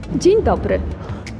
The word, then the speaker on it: Dzień dobry: Dzień dobry.